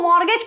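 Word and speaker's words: mortgage: इसको मॉर्गेज पढ़ते हैं। क्या पढ़ते हैं? मॉर्गेज। मॉर्गेज नहीं पढ़ते हैं, मॉर्गेज पढ़ते हैं, बिकॉज टी इज साइलेंट।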